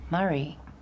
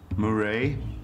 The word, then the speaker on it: Murray: Murray? Rings a bell. Actually, it's pronounced Murray. It's Australian.